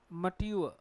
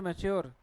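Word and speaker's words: mature: मैच्योर नहीं है, मट यू अ, क्या होगा, मट यह में ऊ अ, क्या हो गया, मट्यू अ। और हम बोलते हैं इसे मैच्योर, परिपक्व होना, मट्यू अ।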